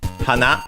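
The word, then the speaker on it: 花: being strictly Japanese hana accented on the uh last syllable on the na hana means flower.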